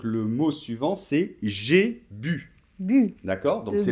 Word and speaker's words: bu: Ok, donc il faut bien dire j'ai bu et pas bou, ok?